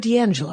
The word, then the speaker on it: D'Angelo: the the controller of my pull list card D'Angelo is that correct that's announcing that correct that's the correct pronunciation excellent earth to comics dot-com here in